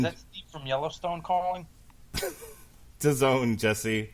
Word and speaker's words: DAZN: DAZN, Jesse. What does it rhyme with? Calzone.